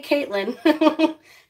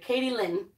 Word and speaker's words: Katie Lynn: I feel like I was pretty close to pronouncing it that way. I didn't say Caitlin, but okay, Katie Lynn.